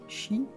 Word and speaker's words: chi: C'est un symbole chrétien formé par les deux majuscules grecs X prononcé chi et P prononcé R.